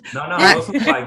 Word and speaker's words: Rosenzweig: I'm so excited to introduce our guest, Jay Rosenzweig, which I know I just mispronounced your name. No, Rosenzweig, you got it.